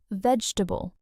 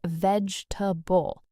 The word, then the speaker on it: vegetable: A lot of people say veg-e-ta-ble, four syllables, because that's exactly how it looks. But native speakers actually say veg-ta-ble, three syllables. The second e just disappears.